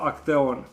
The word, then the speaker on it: actaeon: When you have A in front of E, both of these letters are pronounced E. And letter C is in this case pronounced K, so it is pronounced Grammostola actaeon.